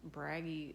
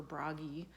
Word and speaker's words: Bragi: odin the mustang and braggy the mustang or bragi that might be another way to pronounce it uh i have scandinavian